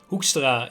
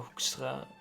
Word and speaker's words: Hoekstra: Hoekstra? Hoekstra is That's how you pronounce that. Okay, I think. Hoekstra.